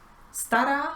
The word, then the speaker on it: stará: Stara significa vieja. El acento va en la primera sílaba, sta, pero la sílaba ra se prolonga.